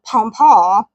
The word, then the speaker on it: pompon: You have to say it like that, pompon, which was then anglicized by English speakers to pompion, which does not sound fancy at all.